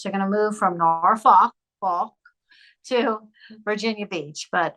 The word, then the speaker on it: Norfolk: came back from uh Norfolk uh and that was your language I know well the proper way to say it I tried to tone it down a bit I would say Norfolk and that's where my